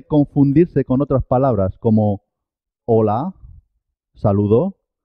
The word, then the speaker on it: hola: con otras palabras como hola, saludo, y ola del mar. Hola se escribe con H. Hola se escribe sin H. Las dos suenan igual.